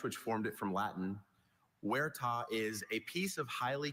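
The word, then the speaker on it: huerta: Werta is a piece of highly cultivated land as for an orchard in Spain.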